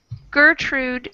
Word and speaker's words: Gertrude: So we have GER in both, but one is a soft G, German. We call that a soft G. And the other is a hard G, Gertrude.